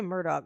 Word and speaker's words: Murdaugh: They say Murdoch, but it's spelled like Murdaugh.